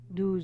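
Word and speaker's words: douze: to 15 o do do sounds like a dozen do K all right I'll repeat from 11 K from 16 to 20 says deset and we do like we do in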